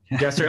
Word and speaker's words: Gesserit: Although it's so interesting because the Bene Gesserit or Gesserit, whatever. Gesserit, okay. I'm going with Mike's pronunciation.